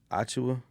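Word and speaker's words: Achiuwa: How do you pronounce his name? Precious. No, not the movie. Precious. Achua.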